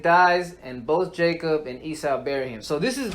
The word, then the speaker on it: Esau: Esau. Esau.